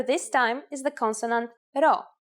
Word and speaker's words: rho: Our first letter this time is the consonant rho. Its sound is r and is exactly like the English R.